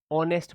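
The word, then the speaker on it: honest: तो आप बोलोगे कि सर आपने बताया था एच साइलेंट रहता है, इसको ऑनेस्ट पढ़ा जाता है। तो क्या पढ़ा जाता है? सॉरी, इसको पढ़ा जाता है, इसका प्रोनाउंसिएशन जो होता है वो होता है ऑनेस्ट, यानी कि वोवेल साउंड।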